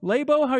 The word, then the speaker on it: Labo: course Nintendo lab Oh labo how you guys pronouncing lava lab oh lab we're saying lab Oh experimental this is why